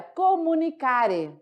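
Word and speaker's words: communicare: No latim, essa palavra, ela é nada mais, nada menos que assim pronunciada. Olha, comunicare.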